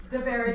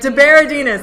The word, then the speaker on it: De Berardinis: De De Berardinis. De Berardinis. Olivia De Berardinis.